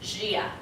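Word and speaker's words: Gaia: rainbow poster her name is spelled funny it's pronounced Gia okay Shia is this lady anyone know who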